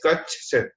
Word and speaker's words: Kutch: It is Kutch. मतलब छ की साउंड दो बार. Kutchchch. So chh they always miss. Google also miss chh. Gulf of Khambat and Gulf of Kutch.